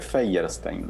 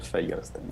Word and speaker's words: Feierstein: ¿Cómo se pronuncia? Así como se escribe, Feierstein, Daniel Feierstein.